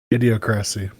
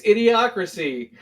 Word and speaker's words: Idiocracy: Idiocracy. Wow, you say that weird. It's Idiocracy.